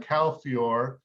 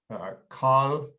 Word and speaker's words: Calfiore: You call it Calfior. I think that's how my family always pronounced it. I think the original pronunciation would be Calfiore. Calfiore. Okay, sure. That's probably the Italian.